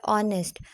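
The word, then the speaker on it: honest: वो साइलेंट है और दूसरी जगह पे लिखा हुआ है ऑनेस्ट वो नेस्ट नहीं पढ़ते उसको ऑनेस्ट पढ़ते हैं क्योंकि उसमें एज साइलेंट होता है देन है कॉमिनेशन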